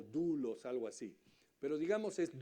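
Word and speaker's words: δοῦλος: es la palabra se se escribe doulos y se pronuncia como dulos algo así pero digamos es doulos significa esclavo con gusto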